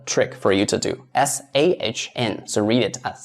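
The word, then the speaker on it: 三: So we read it as s. So this is the trick for you to do s a hn.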